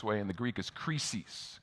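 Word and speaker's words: κρίσις: in the greek is crisis crisis it's where we get our noun crisis right and although the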